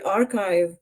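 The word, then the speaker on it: arXiv: U by the way archive which is spelled ax I is a great way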